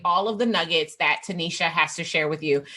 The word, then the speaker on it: Tenita: yeah so i am tanisha if you see my name spell it actually looks like tanita it is not a typo which is ironic darnell